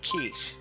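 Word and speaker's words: quiche: was giv everybody I found out is actually pronounced kich so eat your keish that's right he loves it oh yeah buddy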